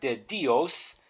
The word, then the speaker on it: de: a more Amore then the next word is De and you can pronounce that de so think of e as in deck neck or heck so here's a context